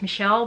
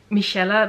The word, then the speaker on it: Michelle: So like I always introduce myself as Michelle, but it's actually pronounced Michelle by my friends and family because that's the Dutch pronunciation.